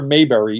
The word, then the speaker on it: Maberry: spelling my name right most people the immediate tendency when they hear Mayberry is to spell it Ma y m m a e r r y spelled like mberry so if you look